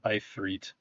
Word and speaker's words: Ifrit: Okay, it's actually pronounced Ifrit. Ifrit? Really? Yeah. In Arabic.